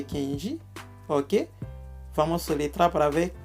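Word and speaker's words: Kendy: Kenji se pronuncia assim, se soletra assim.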